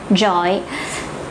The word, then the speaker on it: giỏi: If you're living in the South, maybe you might pronounce it like the word yes in English. It's something like giỏi.